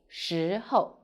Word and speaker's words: 时候: i'm sunny the word of the day is xi ho in this video i will teach you how to pronounce it how to write it and how